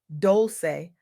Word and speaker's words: Dolce: Welcome to Softgirl Era hosted by me, Leon Dolce, pronounced Doulce, like sweet softness whispered in French.